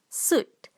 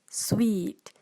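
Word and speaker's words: suite: malaysian calls this as suit suit but the correct pronunciation for this word is sweet sweet so now moving on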